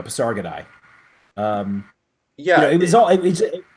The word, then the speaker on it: Pasargadae: How do you pronounce them? Paris God or something? Pasargadae? Pasargadae. There we go. Pasargadae.